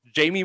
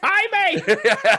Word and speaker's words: Jaime: Jamie Munguia is how they say it. It's Jaime.